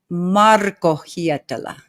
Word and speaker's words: Hietala: But how what is the correct pronunciation? Marcoa. Marcoella. Okay. Yeah, that's the Finnish way.